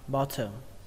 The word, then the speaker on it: bottom: Ở đây có một cách đọc khác nữa của người Mỹ, đó là âm T ở đây các bạn không đọc nữa mà các bạn chuyển thành âm D luôn.